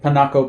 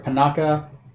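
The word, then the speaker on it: Picocca: two smiths on the panaco bluffs sorry panaka i can never pronounce that let me remove cities in town p-i-c-o-c-c-a bluffs pinocchia bluffs i can give you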